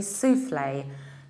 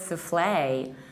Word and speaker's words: soufflé: the British sharks and we stress the first level and we say souffle chocolate souffle and the American accent it's chocolate souffle chocolate souffle stressing the second sea level souffle and our example